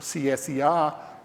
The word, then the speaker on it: CSER: We decided to call it the Center for the Study of Existential Risk, or CSER, pronounced CSER.